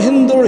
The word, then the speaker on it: हिंदू: फारसी भाषा बोलते थे जिसमें स अक्षर का उच्चारण ह होता था। इसी कारण सिंधु को हिंदू कहा जाने लगा और कालांतर में सिंधु क्षेत्र में बसने वाले लोगों के लिए हिंदू शब्द और वहाँ के